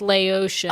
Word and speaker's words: Laotian: it's Laotian. Oh. Yes. Yeah, like Haitian or whatever.